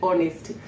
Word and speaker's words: honesty: tip another thing is honesty and those who are good in grammar say the H is silent so yes honesty H is silent you don't say h we say honesty so you should be